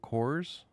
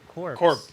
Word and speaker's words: Corps: I'm hoping we get Deadpool cores. Deadpool cores. CORPS. P. Oh, corpse. Corpse. Gotcha. What's cores is what that's pronounced.